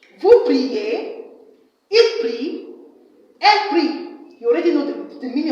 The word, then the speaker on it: prie: Now, the next one is le verbe prier. Le verbe prier. Je prie. Please, I didn't say je priais. This is silent. Okay? This is silent. Silent. You already know that.